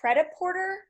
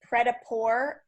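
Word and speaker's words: prêt-à-porter: struggling with on the pest sheet was the Preta Porter it's actually pronounced Preta poor um and not pret-a-porter but it looks like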